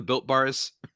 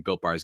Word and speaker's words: Built Bar: And it rhymes with Filt Bar. Have you ever heard of the Built Bars, Rylan?